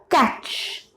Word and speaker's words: catch: Catch. What is this? Catch. Here T is silent.